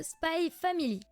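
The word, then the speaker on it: Spy x Family: Et on commence avec les tomes 2 à 7 de Spy Family. Bah quoi, tu prononces le X toi ?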